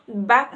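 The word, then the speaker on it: Bach: अब ये जो बैक का प्रोनाउंसिएशन है ये फॉरेन लैंग्वेज में आप बोल सकते हो, इसको बोलते हैं बा, लेकिन ये इंडियन वर्जन में इसको बैक बोलते हैं।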